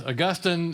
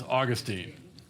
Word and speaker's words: Augustine: with a different pronunciation so the saint is Augustine and the city is Augustine so yeah all right